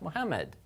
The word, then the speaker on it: Muhammad: However, there is a Shadda on this middle letter here, meme. And the difference this has, if you look at it this way, right? In English, we would probably pronounce something like this, Muhammad, Muhammad, and then put it together fast, Muhammad. If you remember in Arabic, there actually are two memes here, and they're both pronounced.